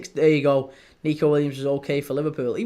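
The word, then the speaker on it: Neco Williams: As in the Forest defender, Nico Williams. It's Nico Williams. It's exactly the same. Both are Nico. It's just that one's N-I and the other's N-E.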